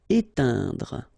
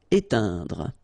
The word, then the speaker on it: éteindre: Éteindre. Okay, keep in mind that when you get this E-I-N together, it will produce the sound un. Éteindre. Okay, don't insist on this final here. Éteindre.